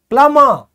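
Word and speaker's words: plumber: है पी से प्लंबर पलमा जो आपके नल वगैरा ठीक करते हैं ना उसे बोला जाता है पलमा ये बी साइलेंट होता है याद रखना जो नल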